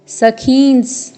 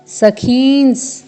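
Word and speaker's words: सखींस्: पौत्रान, फिर है पूर्ण दंत्य स, फिर पूर्ण वर्ण ख में दीर्घ स्वर है और साथ में अनुस्वार है, फिर अर्ध दंत्य स है। सखींस, सखींस, फिर है पूर्ण वर्ण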